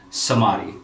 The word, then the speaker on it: Shamadi: to the word so he just moved the h so proper pronunciation would be samadhi and i have the